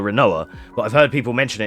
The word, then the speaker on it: Rinoa: Yeah, her name is Rinoa, but the people jokingly call her, like, Renoir, Quinoa, because it's R-I-N-O-A, so it could be Renoir, if you take quinoa pronunciation. We usually just call her Rinoa, but I've heard people